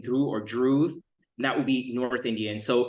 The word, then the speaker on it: Dhruva: Yeah, it's actually pronounced Dhruva. The V is silent and the D is enunciated, Dhruva, and it's a South Indian name.